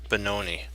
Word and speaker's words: Benoni: a little longer of the Benoni and I said it right this time so I don't know why I kept saying Bank oh it's that's the benoni okay okay let's see